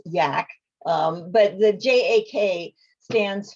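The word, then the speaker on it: JAK: and the acronym uh that i pronounced jack and you corrected me i guess it's yak um but the j.a.k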